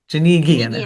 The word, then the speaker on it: Janigian: Janigian, hard G. Hard G.